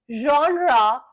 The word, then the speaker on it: genre: Which genre of movies do you watch?